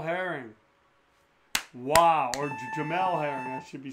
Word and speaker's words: Jamel: body oh and just punctuating this round is jamal herring wow or jamelle harry i should be saying i apologize if